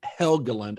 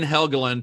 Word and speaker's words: Helgeland: screen writer named brian had helga lent i'd always say his name wrong brian helgeland to do some pretty extensive